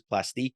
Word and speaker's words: Plastiq: a a Wrong luning conversation about plastic versus plastique which is the this company that you could use their service to pay with a credit card but it's spelled p l a s t IQ and so pay loves to get very French about it and call it plastic or I'm just saying